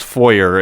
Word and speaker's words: foyer: It is actually pronounced foyer. It's just every time it's been said by Ross, which is why it's foyer. It's a French word.